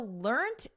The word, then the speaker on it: learnt: So learnt is the preferred spelling and pronunciation in British English. In American English, which I teach, the preferred spelling and pronunciation is learned. So notice we have a soft T here, learnt.